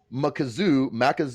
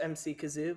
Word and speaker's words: Makazu: And we look like we're gonna have Makazu. I think Makazu. That's how you pronounce it. It's pronounced MC Kazoo, but yeah.